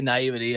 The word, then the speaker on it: naive: have never guessed that I say you say naivity I guess if you want but I think naive is correct isn't it damn I love